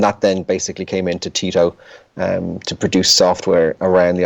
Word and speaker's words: Tito: So the pronunciation is Tito because that's how you say the name Tito, but there you go.